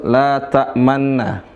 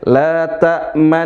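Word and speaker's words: لا تأمنا: La tamanna. Cuma cara membacanya tidak seperti itu. Dibaca dengan memonyongkan dua bibir. Ya, ismam itu artinya memonyongkan dua bibir mirip dengan domah.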